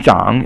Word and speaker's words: 长: 四声 and 长 is 三声, falling and rising tone.